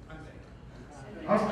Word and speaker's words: Hyundai: How do you pronounce it? Hyundai.